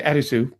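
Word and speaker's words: アリス: But Arisu is how someone, or I should say Arisu, just to say it correctly, is how someone with a heavy Japanese name would say Alice.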